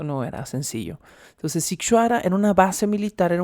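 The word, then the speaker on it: Sighișoara: del pueblo militarizado de situará situará escríbase totalmente distinto a lo que acabo de pronunciar lo estoy pronunciando fonéticamente pero se escribe sighisoara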